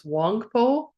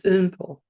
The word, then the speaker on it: Wangpo: You're going to see this, I think, in the answer key is Wangpo, but that's not how you pronounce it. So please don't continue that. It's Umpo. Umpo.